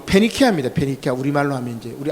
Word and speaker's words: 페니키아: 요것을 이제 베니게, 발음을 우리 한글식으로 바꾸니까 베니게라고 되어 있는데 페니키아입니다. 페니키아.